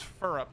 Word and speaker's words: Phirrup: But the name in chat is spoken as Furup, sort of like syrup. But it is spelled Phirrup.